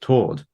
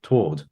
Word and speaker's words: toward: meter doesn't work because toward is a one-syllable word. And I said, well, that's not true. I mean, that's objectively not true. No, I don't know, because if this is someone from some part of America where obviously to his ear it's always pronounced toward, just toward.